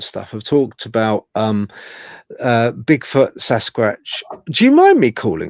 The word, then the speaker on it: Sasquatch: Sasquatch. Like a watch. Sasquatch.